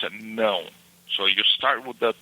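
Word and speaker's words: não: No. Okay. It sounds like you're saying no, but a little bit differently.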